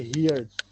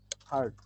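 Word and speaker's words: heard: হিয়ারের এটা তো verb, হিয়ারের past ফর্মটাকে আমরা বলি হচ্ছে অনেকে হিয়ার্ড, অনেকে হিয়ার্ড বলো, অনেকে হেয়ার্ড বলো, ঠিক আছে, অনেকভাবে বলো। আসলে উচ্চারণটা হচ্ছে, আজকে শিখবা আর কখনো ভুল করবে না, উচ্চারণটা হচ্ছে হার্ড।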